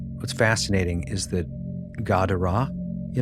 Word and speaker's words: Gadara: r a h, but if you take one r out and one h out, it's still pronounced Gadara.